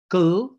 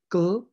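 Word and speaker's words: kll: So you can have a word like K-L-L, gl, there's no vowel there, gl, which means ground, and word like T-R-R, tr, which means day.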